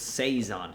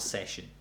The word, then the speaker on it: saison: I found it's saison, not session. So saison is how you pronounce that.